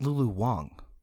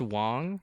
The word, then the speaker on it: Lulu Wang: Real quick though, I think it's actually pronounced Lulu Wang. Oh, I saw an A. It is an A, but I think they pronounced It's it pronounced Wong.